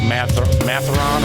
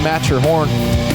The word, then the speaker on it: Matterhorn: I thought it was like Matheron or something like that. I mean, it's pretty clearly Matterhorn.